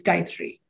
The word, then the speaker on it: Gayathri: Think about a guy and the number 3. And the A in the middle is almost silent, so it's Gayatri.